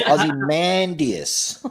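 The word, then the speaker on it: Ozymandias: great picking someone that nobody can pronounce their name aie mandus and it's Aussie mandus aie mandus it it's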